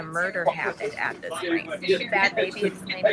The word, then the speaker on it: Bhad Bhabie: Okay, I can see black culture blows up the internet after Bahad Barbie. Bad baby. That's how she pronounces.